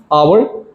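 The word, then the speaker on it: hour: अब दो ऐसे वर्ड्स हैं जिनके पीछे एन लगता है। But mostly people mostly people make a mistake. बहुत सारे लोग जो है वो मिस्टेक करते हैं। उसके पीछे ए लगा देते हैं इंस्टेड ऑफ एन। अब वो दो लफज़ कौन से हैं? मैं आपको बताता हूं। आवर एच ओ यू आर एंड ऑनर। एच ओ एन ओ आर ये दो ऐसे वर्ड्स हैं इनके पीछे आपने एन लगाना है।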